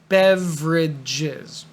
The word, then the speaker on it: beverages: word to say drinks beverages ignore this e in the middle Bev Regis beverages for example soda at